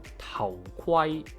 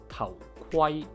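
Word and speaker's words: 頭盔: Kwai, Kwai as in Tao Kwai, Tao Kwai, helmet. To properly pronounce the KW sound is actually just like the GW sound, with the difference being we only vocalize after we release the airflow.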